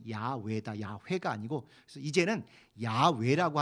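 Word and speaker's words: 야훼: 이게 맞는가보다 이렇게 했지만 더 학자들이 연구해보니 여호와라고 쓰여진이 단어의 진짜 히브리어 발음은 야외다 야외가 아니고 그래서 이제는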